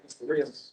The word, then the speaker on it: Rios: I'm actually pronouncing your last name terribly since you couldn't. How do I say your last name? Rios.